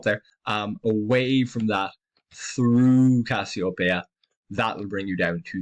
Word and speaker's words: Cassiopeia: We also have the constellation of Cassiopeia up here, or Cassiopeia, as some people pronounce it.